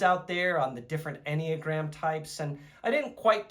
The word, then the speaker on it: Enneagram: Later, I found out that it was pronounced the Enneagram and that it was some sort of personality assessment.